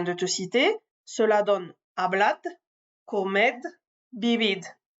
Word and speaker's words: hablad: Selon les régions, ce D final sera prononcé comme un D, comme je viens de te le prononcer, ne sera pas prononcé du tout, ou sera prononcé comme un Z un peu atténué.